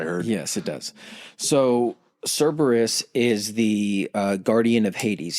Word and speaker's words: Cerberus: That security measure is named Cerberus, or Cerberus. Cerberus. Cerberus or Cerberus? Cerberus. There's multiple pronunciations of it. I think Cerberus is the one that's been...